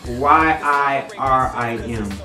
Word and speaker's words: Yirim: It's Y-I-R-I-M. Yeah. And it's pronounced Yirim, the R roll.